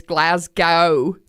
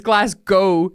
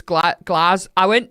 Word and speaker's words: Glasgow: America saying Glasgow as Glasgow. I went to Glasgow, but it's Glasgow. You drop the W almost. It's Glas. Or if you're like properly, like, I went to Glasgow.